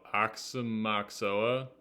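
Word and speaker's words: Aoxomoxoa: here oh de before what how do you pronounce it Axona oh axom maoa apparently that's um what do you call it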